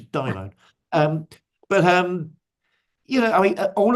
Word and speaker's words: daimon: He mispronounces Greek and calls it daemon. It's a daimon.